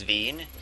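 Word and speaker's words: Veyn: I think it's Veen, V-E-Y-N.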